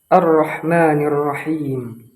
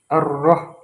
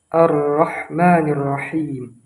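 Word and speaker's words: الرَّحْمٰنِ الرَّحِيمِ: Kesalahan yang mungkin tidak kita sadari yaitu pada huruf ro. Ro ini termasuk ke dalam huruf tebal. Nah, dengan pengucapan yang tebal kita tidak menggunakan vokal u arroh. Maka di situlah kesalahannya yang harusnya kita gunakan yaitu vokal a arrahmanirrahim. Karena di dalam pengucapan Arab itu tidak ada penggunaan vokal O. Yang ada hanyalah vokal A, I, dan U.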